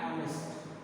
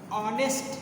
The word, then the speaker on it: honest: But here honest, honest. So sound of H is not her. Her H. Home, house, horse. But here honest, sound of H is not ha, it's honest.